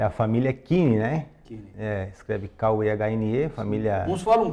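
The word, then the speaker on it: Kuehne: Porque normalmente teria a trema, mas não tem a trema, mas mesmo assim o alemão pronuncia Kine.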